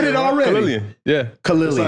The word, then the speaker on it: Khalilian: Charmeleon. We can go with the different pronunciations. Charmeleon. No. That's a Pokemon. That's how I knew to say it like that. No. Khalilian.